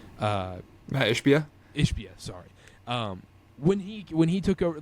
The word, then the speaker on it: Ishbia: Like, think about in when did Matt Ishbia, the Suns owner, I can't pronounce his name. Matt Ishbia? Ishbia, sorry.